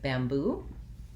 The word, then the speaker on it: bamboo: We have second syllable stress, so we would have the black cat vowel and then the tense oo vowel, bamboo.